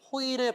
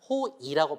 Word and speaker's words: 호의: 하고 있습니다 그리고 호의 호의 베풀다라고 할 때도 호의라고 발음하지만 호이라고 발음해도 괜찮아요 자 그 다음에 조사 나의